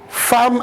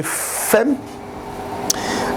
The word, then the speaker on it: femme: pourquoi est-ce qu'on prononce femme à la place de femme. Mais souvent, il nous a été dit que lorsque deux M précèdent le E, ça devient O. Ça devient A.